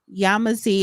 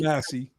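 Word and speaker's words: Yamasee: Yamazi Goulli Guli, black as car tires, Yamazi, and I I know I'm probably saying the name wrong. Sorry. Yamasi Yamasi war 1715 to 1717.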